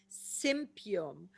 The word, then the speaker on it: Symphytum: Sympium. Sympium is symphytum, really. I pronounce it the German way. As you guys know, I'm German, so my pronunciation is not always the same.